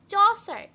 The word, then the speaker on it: Chaucer: Father of English poetry নাম হচ্ছে চসার, CH, এর উচ্চারণ কিন্তু আসলে H। তা যাই হোক, এটা যেহেতু উচ্চারণের ক্লাস না, আমাদের অত দরকার নেই, জেনে রাখি এর উচ্চারণটা হচ্ছে H।